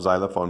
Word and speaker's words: xylophone: เพราะผมไม่ชอบ xylophone เนาะ xylophone เป็นออกเสียง z ถ้าต้องสอนเด็กว่านี่เป็นเสียง x เพราะเสียงดังที่สุดคือ x